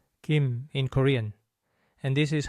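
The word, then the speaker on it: 김: Since M comes at the end, we start with the gi sound and finish by closing the lips and vibrating the vocal cords, just like in English. Kim.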